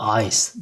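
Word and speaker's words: Eis: Ya da ice, dondurma veya buz demek. Burada e-i'ye i diyoruz. Sonra s-i de eklediğimiz zaman ice şeklinde okunuyor.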